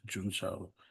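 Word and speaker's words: Juncao: in the mas project the junka or juna the Chinese pronounce it as juna so we did interviews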